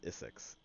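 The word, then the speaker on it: Issyx: My channel name is pronounced Isix. It's literally just Issy with an X, so you could just say Issy.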